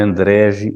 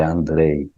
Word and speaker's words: Andrej: Lembrem-se, Andrei escreve com J e pronuncia como I, né? Não é Andregi, é Andrei.